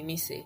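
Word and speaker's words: Mici: but I prefer that you call me Missy. Missy is spelled M-I-C-I and pronounced M-I-S-S-Y.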